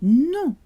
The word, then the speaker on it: nom: So no is pronounced non in French, and so is name, non. You cannot hear the M when OM and ON are in the same syllable.